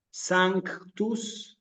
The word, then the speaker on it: sanctus: Entonces, simplemente para comprender bien el vocabulario en latín, tenemos que hacer el esfuerzo también porque se escuche esta C que aparece aquí. Sancti, sanctus y sancta.